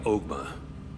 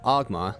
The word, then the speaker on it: Ogma: I am Ogma, the Horns Group president. First off, I'm pretty sure his name is pronounced Ogma.